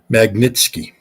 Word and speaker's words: Magnitsky: How do you pronounce that? Magnitsky.